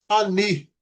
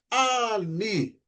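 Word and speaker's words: אני: Então, vamos com aquela sílaba, com aquela palavra que nós vimos ali na primeiramente, que é a palavra ani. Então o a letra alef não tem som e ela vai acompanhar o som da letra da da vogal que está embaixo dela.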